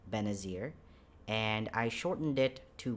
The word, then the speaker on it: Benazir: my my full name is right here it's pronounced benazir and i shortened it to ben for the